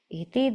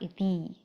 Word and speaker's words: iti: evam indriyadringnaham indriyani iti, that iti should be a short e. So if there's a long e in your book, please make sure to change it. The same with the transliteration. It should be a short I. It should be iti, not iti.